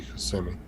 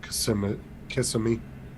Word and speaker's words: Kissimmee: Some people pronounce it like that, but it's technically Kissimmee. But I've heard people pronounce it Kissimmee.